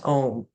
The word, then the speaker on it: Om: The first letter, so when you go to pronounce Om, it begins with A. The first letter A is the root sound, the key, pronounced without touching any part of the tongue or palate. M represents the last sound in the series, being produced by closing the lips, and the U rolls